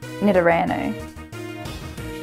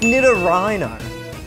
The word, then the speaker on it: Nidorino: and mail well done Rano nidorano yeah I'll take that as a mispronunciation it's Nidorino and Nidoran King just just